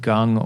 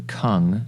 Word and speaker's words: gong: actually means uh it's it's actually pronounced Gung or even Kung as in kung fu okay um which means